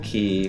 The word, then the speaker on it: Quay: wait wait wait wait if you say moon key fast enough i think i'm getting